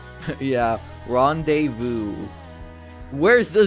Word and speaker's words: rendezvous: Like, tell me where's the Z in rendezvous?